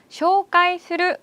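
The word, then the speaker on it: 紹介する: 한국 발음이랑 엄청 비슷하죠? 외우기 쉬우실 것 같은데요. 쇼가이 스르 하시면 되겠습니다.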